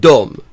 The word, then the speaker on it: de: It is not pronounced de. It is pronounced dom.